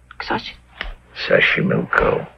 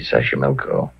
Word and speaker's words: Taxco: it'll be wonderful Mexico City Taxco pbl sash sashco okay so you pronounce it better than I do it's easy sashco that's where the streets are paved with flowers